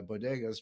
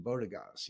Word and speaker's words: bodegas: and uh I know I like shopping in bodegas but uh Jill Jill Biden calls him bodas you know so she can't even pronounce a simple Spanish word it's an embarrassment